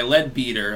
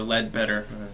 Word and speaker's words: Leadbeater: video 208 dreams by Leadbeater or ledbetter her to pronounce both ways Charles Ledbetter link in